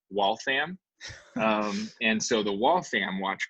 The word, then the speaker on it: Waltham: It's still today called Watch City, and there it's pronounced Waltham.